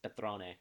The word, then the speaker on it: Patron: but like in like the way it's pronounced is Petron do you like Patron